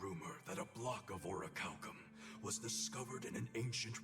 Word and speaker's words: orichalcum: is next to impossible is that how you say it orichalcum I always thought it was a lickle 'm but a rare metal that's orichalcum and ancient ruins it's